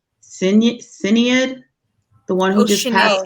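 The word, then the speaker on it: Sinéad: the singers uh I don't know how to pronounce her name Sinead the one who just passed Sinead O'Connor yeah SHINee O'Connor yes see I love her she just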